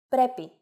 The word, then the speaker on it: πρέπει: If a two-vowel combination must be pronounced as a set that is not accented, then no mark should be placed on any of the letters. For example, πρέπει, meaning must, as in it must. If a two-vowel combination must